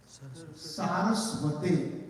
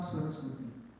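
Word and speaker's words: सरस्वते: Vedanta Swaminti Namine Namaste Saraswate. It's not Saraswati.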